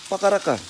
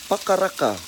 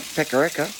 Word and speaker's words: Pakaraka: It's not Pakaraka, as it is quite often mispronounced. So just repeat after me. Pa, ka, ra, ka. Very easy, very simple, very basic. Pa, ka, ra, ka. Alright, now just in terms of the vowels and how you pronounce those, they're all short.